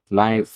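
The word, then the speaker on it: knife: নাই এ নাই নাই অ্যান্সার বাংলা উচ্চারণ ফ নাইফ নাইফ।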